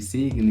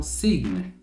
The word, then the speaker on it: sign: E aí ela tava falando como signe, né? Como se fosse a forma correta da pronúncia. O canadense entendeu do que ela tava falando e deu feedback, ó. Acho que você tá querendo falar sign.